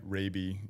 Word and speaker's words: Raabe: Ra is uh how you pronounce the last name even though phonetically spelled very very differently.